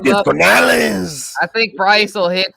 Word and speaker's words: Canales: You gotta say it like this, Canales.